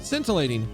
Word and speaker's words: scintillating: brain is adding sentence letters scintillating scintillating scintillating wow would not have guessed for even a